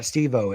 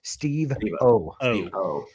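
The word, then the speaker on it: Steve-O: Well, I like the way he pronounced it. It's not Steo, it's Steve O.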